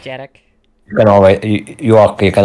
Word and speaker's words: gyerek: Your pronunciation of it is definitely better than my English. That's okay. Yeah, so child, gyerek. Derek.